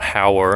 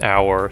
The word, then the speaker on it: hour: I mean, technically it starts with an H, so should be a, but you don't actually pronounce the H. Fun fact, it's actually not how, it's our, so I can't see